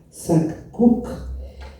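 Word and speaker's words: Sak K'uk': que tiene su nombre María Preciosa, que se pronuncia Sac-Cuc, está representada como, aquí está la parte vectorizada por Rossi.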